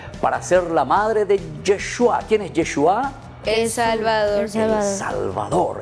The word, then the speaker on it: Yeshua: ¿Qué quiere decir Yeshua?